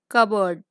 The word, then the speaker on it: cupboard: Example: cupboard. P is silent.